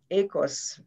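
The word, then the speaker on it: οἶκος: purpose and mission uh oikos ecos uh is pronounced in greek meaning creating value for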